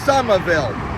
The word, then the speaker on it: Somerville: h v i w l e it is pronounced sumerville this Massachusetts city misspelling right here is one